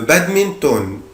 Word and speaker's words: badminton: هنا بنطق حرف ال N اللي في آخر الكلمة عادي خالص جدا. le badminton.